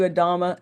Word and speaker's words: Adama: Spell it. new, just like NEW, like New Earth, but it's New Adama, Adama.